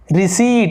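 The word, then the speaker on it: receipt: उसी तरह से देखिए रिसीट, इसे रिसिप्ट नहीं पढ़ते, रिसीट पढ़ते हैं, ठीक है, P साइलेंट होता है।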